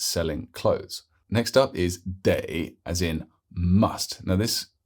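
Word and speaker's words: 得: is sell she's selling clothes next up is day as in must now this particular character super common with another pronunciation of D with a fifth tone and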